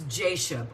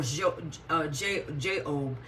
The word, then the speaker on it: Jashub: So the third son of Issachar was Jashub, or Job. It's pronounced in two different ways.